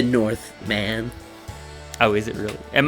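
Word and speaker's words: The Northman: the batman and the northmen both movies that week i believe it's pronounced the north man oh is it really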